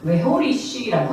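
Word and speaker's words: והוריש: 자, 여기서 보면 떠나게 하시리니로 번역된 히브리어가 어떻게 발음하냐면요, 웨호리쉬라고 합니다.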